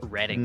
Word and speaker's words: Reading: It's pronounced Reading.